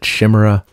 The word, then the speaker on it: Chimera: Before that, a band out of Northern Ireland that I would pronounce Chimera, but I remember back in the day, their label reps told us that they pronounced it Shimmera.